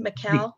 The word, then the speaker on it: Michal: Michal? It looks like Michael. Yeah, it's Michal in Hebrew.